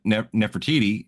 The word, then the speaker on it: Nefertiti: mean, his wife when she was talking to Nefertiti, I Yeah. think I pronounced that right.